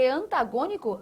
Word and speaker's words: antagônico: Porque antagônico. Antagônico. Tem a sua tonicidade aqui, ó. Última, penúltima, antipenúltima sílaba tônica. Isso é uma o quê? proparoxítona.